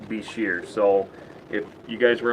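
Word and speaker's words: bichir: Senegal Beach here so that is the appropriate pronunciation it's not biker it's not buy sure it's beshear so if you guys were ever wondering over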